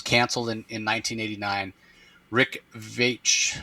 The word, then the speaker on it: Veitch: Rick Veitch Veitch Vetch. I've heard it pronounced so many different ways. I think it's Vetch Rick Vetch is the writer.